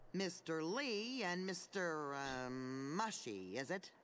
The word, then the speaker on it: Mushi: a good boy Mr Lee and Mr um Mushi is it it's pronounced Mushi you telling me how to do my job